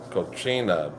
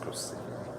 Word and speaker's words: cocina: Yeah, I was pronouncing it cochina accidentally in the video. It is one of I enjoyed that food so much until someone educated me and said it is actually pronounced cocina.